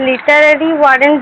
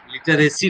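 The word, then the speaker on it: literary warrant: স্যার লিটারেরি ওয়ারেন্ট যেটা আছে ওটা আরেকবার বলুন। হ্যাঁ, লিটারেসি নয়, লিটারারি ওয়ারেন্ট।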